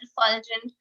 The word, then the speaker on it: refulgent: brightly and radiant and refulgent. So that is one. ठीक है? Refulgent pronouncing like detergent, yes.